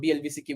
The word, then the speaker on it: BLVCK: So that's what BLVCK, which is pronounced as Black.